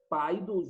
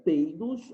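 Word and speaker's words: paidós: Paidos ou peidos, aí vai depender de como você vai colocar isso. Eu já escutei as duas pronúncias. Eu, particularmente, vou ficar mais com aquela que soa menos agressiva aos ouvidos, né?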